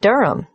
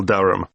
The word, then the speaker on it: Durham: At 1 Uranga Street, Durham. How do you spell Durham? D-U-R-H-A-M. Of course, I should know that. But it's just one of those names that sounds quite different from the way you spell it.